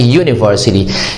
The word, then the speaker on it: university: university and university so the first sound that comes from your mouth while pronouncing the word university is a consonant sound so we should pronounce